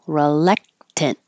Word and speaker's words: reluctant: of snakes uh reluctant you can say re reluctant but the re is not stressed so it's more likely to change to R reluctant and when you finish